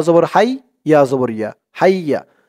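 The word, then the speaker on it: حَيَّ: দর্শক, তাসদিদওয়ালা হরফ কিন্তু দুইবার পড়তে হয়। এখানে দেখুন, হা ইয়া জবর হাই, আবার ইয়া জবর ইয়া, হাইয়া দুইবার পড়া হলো।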